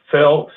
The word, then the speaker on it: Phil: Well, I have to introduce the new guy because he actually has a one-syllable name, and I can remember it. It's not like Ross did Phil. It's Phil.